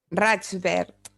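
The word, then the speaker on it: Raig Verd: and she's going to help me with the pronunciation so I get it completely right. The name of your press? Rajvert.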